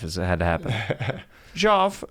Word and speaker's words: Geoff: did you just say did you just pronounce my name jeff because you got it right yeah yeah yeah it